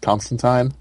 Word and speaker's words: Constantine: and he's like no it's time rhymes with fine and he is and